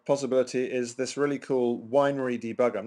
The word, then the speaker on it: weinre: another debugging uh possibility is this really cool winery debugger i'm not quite sure how you pronounce it w-e-i-n-r-e i call it winery uh